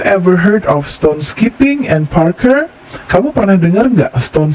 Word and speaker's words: Parkour: untuk melihat ya lalu Parker Parker eh sebutannya bacanya Parker Parker is an activity